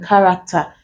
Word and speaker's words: character: in words containing ch sometimes CH can combine in words to produce the sound character for example the CH in character we pronounce it as this sound other words include charisma